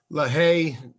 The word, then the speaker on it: Lahey: And, I got to give a lot of props to Jim Lahey, or I know I butchered the pronunciation all weekend, apparently, I learned, but Lahey.